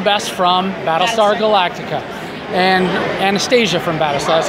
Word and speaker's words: Anastasia: I'm here now with Kandyse McClure, and we know you best from Battlestar Galactica, and Anastasia from Battlestar.